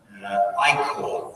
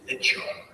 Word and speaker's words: ichor: Ichor was the answer, and a lot of people said Ichor instead of Ichor, you know, the blood that flows in the veins of gods.